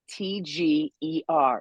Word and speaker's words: Boetger: Boetger. So the O is silent. It's Boetger.